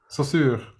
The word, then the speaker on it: Saussure: Saussure.